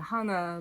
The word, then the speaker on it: Hana: is that means leaf and hana like rhymes with anna excuse me crazy yeah